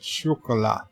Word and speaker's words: chocolat: Chris Perzer says, Luke, you should have told Bird it's pronounced with a SH at the start, phonetically making it chocolat.